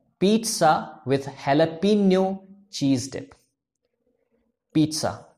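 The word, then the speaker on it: jalapeño: यह है pizza with हैलापीनो चीज डिप। पिज्जा ना कि पिज्जा, और हेलपिनो ना कि जेलपिनो लोग बोलते हैं इस तरीके से, क्योंकि ये दोनों ही फॉरेन लैंग्वेज वर्ड्स हैं।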